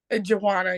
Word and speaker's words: J'Wanna: it right how you how do we uh pronounce the name Joanna Joanna you got it right yeah that's beautiful okay